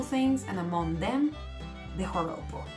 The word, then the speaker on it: joropo: In Venezuela, we have something called joropo. The joropo, bear in mind that J in there is pronounced as an H, okay? So it's not joropo, it's joropo.